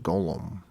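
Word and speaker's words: גלם: Hebrew avoids writing vowels, hence GLM is pronounced Golem.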